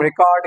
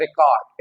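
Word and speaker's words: record: इट इज a noun अगर noun है तो किस पे आएगा फर्स्ट लेबल पे क्या आएगा स्ट्रेस आएगा ओके तो ये क्या होगा रेकॉर्ड रेकॉर्ड रेकॉर्ड okay and when it इज a verb तो क्या आएगा सेकंड सिलेबल प आपका इस पे स्ट्रेस आएगा तो कैसे ये प्रोनाउंस होगा रिकॉर्ड रिकॉर्ड रिकॉर्ड इज a verb रेकॉर्ड इज a noun like wise we have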